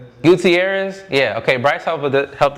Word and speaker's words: Gutierrez: How do we pronounce this? Bryce Gua Gutierrez. Guutierrez.